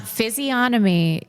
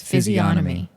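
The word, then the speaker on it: physiognomy: Um, physomy. You do not pronounce the G. Physio. No, that is incorrect. It's physomy.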